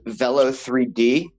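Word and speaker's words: Velo3D: really small company called Velo 3D I think it's kind of pronounced like velocity looking at how they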